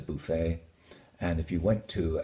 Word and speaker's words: buffet: That if it were an English word, you'd pronounce it buffet, but it's a buffet.